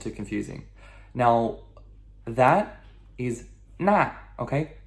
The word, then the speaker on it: 那: Now, that is 那, okay? 那, N-A, fourth tone descending.